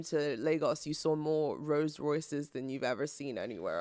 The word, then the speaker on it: Rolls-Royce: hey yes what is sorry I apologize roll rollsroyce yeah you saw more of those and not